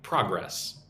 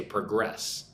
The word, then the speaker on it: progress: If it's a noun, you say progress. If it's a verb, you say progress. spelled the same, similar meaning, but different pronunciation depending on if it's a noun or a verb.